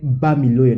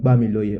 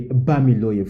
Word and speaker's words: Bamiloye: Mike Bamiloye, not Bamiloye. Okay, Bamiloye.